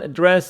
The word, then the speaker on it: address: here for dress noun address verb both of them stress on the second syllable address so if you